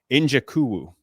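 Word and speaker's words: Nzechukwu: Njakuwu.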